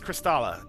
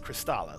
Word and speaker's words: Kristala: And it's Kristala, James, by the way. It's Kristala, spelled with a K.